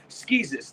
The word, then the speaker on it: Skeezus: Skeezus, the guy that looks like Jesus.